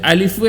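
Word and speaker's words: ألف: അതിൽ അലിഫ് എന്നുള്ളതിൻ്റെ ശബ്ദത്തിൻ്റെ ഉച്ചാരണം വരുന്നത് ഹംസ വരുന്നത് തൊണ്ടയുടെ ഭാഗത്തു നിന്നാണ്.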